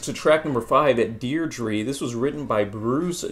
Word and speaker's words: Deirdre: she's back very weird there should be Deidre but the way they pronounce it Deirdre it's very strange never heard such a